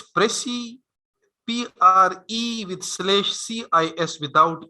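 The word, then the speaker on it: précis: slash C-I-S, so this is that actual term which have come from Latin and now is used in English. Prezi, Prezi. ठीक है? And then जब भी, for example, ये term होगा, इसको आप pronounce करेंगे Prezi, Prezi.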